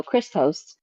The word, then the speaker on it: Krystoast: to pronounce my name my name is Crystal so it's Chris and uh toast so Christos um that's where you'll